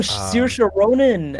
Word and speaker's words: Saoirse Ronan: And I don't know how to pronounce her name. It's like a very Irish name. Mm. Oh, um, Saoirse Ronan.